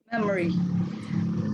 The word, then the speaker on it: memory: memory awakening wait uh please drop the letter o in memory do not produce people okay all right memory okay portable again comfortable